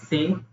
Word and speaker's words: cet: CET, which is pronounced as say, is for vowel or H.